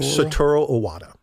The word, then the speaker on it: Satoru Iwata: Satoru Iwata.